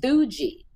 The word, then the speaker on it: Theugi: and it's really growing it's pronounced Fuji t-h-e-u-g-i they're amazing Chris why